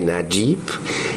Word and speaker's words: Nayib: Lo que pasa es que en el léxico árabe existe una letra que es la letra ya, que equivale a la conjunción de sonido de la D con la J. Entonces es muy difícil pronunciarlo. Por ejemplo, mi propio nombre, Nayib, debiera estar escrito con la letra ya. Entonces, usando la letra ya. El fonema ya.